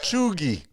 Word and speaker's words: cheugy: it's probably neither one of those the actual pronunciation of that one is choogie i said chugi first and then i was like maybe the